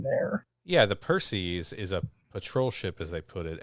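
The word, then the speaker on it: Perses: the Perseus as well that's not Perseus by the way p-e-r-s-e-s there is no U there yeah the Percy's is a patrol ship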